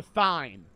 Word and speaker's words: thyme: Chat, is it pronounced thyme or thyme? We had a whole fucking argument about this shit last stream. It's thyme, right? It's T-I-M-E, even though it's spelled with a Y.